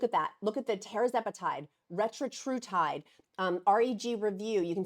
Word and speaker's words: tirzepatide: Look at the tirzepatide, retatrutide, REG review.